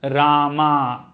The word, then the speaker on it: Rama: you pronounce this again there are two sounds so the long a in the second place short a in the fourth place ra ma not rama okay rama will happen